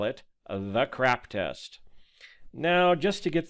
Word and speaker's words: CRAAP: out of the way, yes, the name is an acronym, but the pronunciation is intentional, as the goal of this test is to help you determine what sources are CRAAP and which ones aren't.